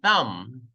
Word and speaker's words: thumb: You say thumb. Thumb. Thumbs up. Thumb. Thumbs up. Walang B.